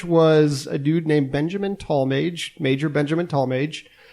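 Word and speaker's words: Tallmadge: Mage major Benjamin tallmage that's spelled m a d g e not m a g e it wait is it he was not I thought it was talage could be looks like it's Mage which is a very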